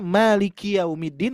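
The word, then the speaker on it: مَالِكِ يَوْمِ الدِّينِ: Tertukar panjang pendek yang tadi, yang asalnya maliki yaumiddin menjadi maliki yau. Nah, kepanjangan ki-nya ya. Jadi yang harusnya pemilik hari pembalasan yaitu Allah Subhanahu wa taala, tapi ketika kita membacanya ki-nya panjang, maka milik sayalah hari pembalasan. Bu ya.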